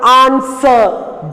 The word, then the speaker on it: answer: Fourth one, answer. W silent there.